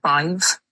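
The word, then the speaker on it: Badb: So, the triad um is the Bive is B A D BH. Sorry, B A D B. Um usually what happens in Irish uh when there's a D and a B, there's usually a H after that.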